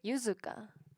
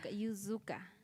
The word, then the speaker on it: Yuzuka: como, sí, esa pronunciación no existe en español, ¿no? Por eso yo digo como me llamo Yuzuka, pero la verdad es que mi nombre es Yuzuka. Yuzuka. Como la z.